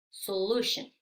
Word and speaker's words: solution: una acentuación por ejemplo Solution Solution es una palabra de tres sílabas la acentuación va en la segunda sílaba lo que significa que las otras dos se convierten en sonido Lo mismo sucede con